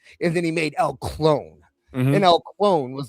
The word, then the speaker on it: Clon: It's CLON. There's no E, but he does pronounce it clone. At least Tony does.